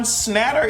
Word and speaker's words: Schnatter: Kentucky Papa John's founder John Schnatter is how you pronounce his name I don't know his last name is sounding to me like snot and it's really it's